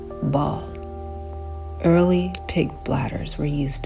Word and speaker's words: Baal: Baal is actually pronounced ball.